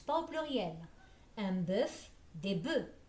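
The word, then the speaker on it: bœufs: pluriel un boeuf des boeufs le f ne se prononce pas au pluriel à vous maintenant voilà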